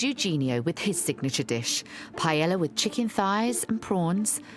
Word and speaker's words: paella: It was quite important with a paella. Yeah. Did I say it right? Say it again. Perfect. Paella, like Spaniard.